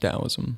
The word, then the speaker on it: Taoism: you mentioned a little bit about is it Taoism or Taoism or is it both it's spelled Taoism but it's pronounced Taoism okay and right before we started you said